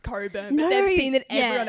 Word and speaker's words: Cockburn: funny is that they probably don't even know that it's pronounced coburn but they've seen that